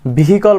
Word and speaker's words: vehicle: এটাকে আমরা vehicle বলে থাকি, বাট it will be vehicle.